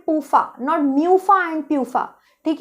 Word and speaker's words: PUFA: लिखा है और आपके पूफा भी। First of all, they are नॉट म्यूफा एंड प्यूफा, ठीक है। बहुत से लोग इन्हें म्यूफा एंड प्यूफा बोलते हैं। इज मूफा एंड पूफा, नॉट म्यूफा एंड प्यूफा, ठीक है।